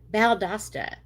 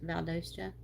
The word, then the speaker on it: Valdosta: Baldasta.